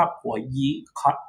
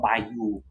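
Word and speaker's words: Boyu: บริษัท ที่ ชื่อ ว่า ผัว ยิ Capital นะ หรือ ว่า ถ้า อ่าน แบบ ภาษา อังกฤษ ก็ อ่าน ว่า by you นะ boy you นะ แต่ ว่า ถ้า ออก แบบ จริง ก็ ผัว ยี นะ ก็ เป็น บริษัท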